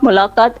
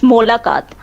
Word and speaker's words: Molakat: It's not Mulakat, it's Molakat.